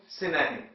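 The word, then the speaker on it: synonym: बोलते हैं एंटोनिन और सिमलर वर्ड के लिए सिनोनिम दोनों का उच्चारण है एंटम सिनिम सिनिम ऐसे ही अगला शब्द मैंने लिखा है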